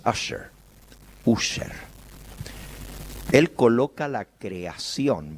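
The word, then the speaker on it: Ussher: anglicana que es el obispo user se pronuncia en inglés asher user él coloca la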